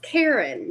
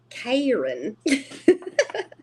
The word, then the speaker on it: Karin: Karin I was like it's Karen not Karin oh you're sweet thank